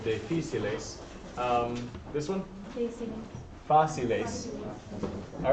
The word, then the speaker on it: difíciles: It still has that accent, so difíciles.